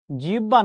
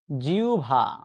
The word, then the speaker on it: জিহ্বা: জিব্বা না শব্দটার উচ্চারণ হচ্ছে জিউভা।